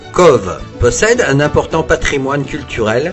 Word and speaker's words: Cobh: Eh bien non, on prononce Cove.